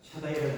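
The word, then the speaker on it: Shaddai: 앞에서 행하여 완전하라 오늘도 함께 엘사자리 물론 정확히 발음하면 샤다이라고 하는 샷다 얘기가 좀 정확한 표현이 됐네요 하기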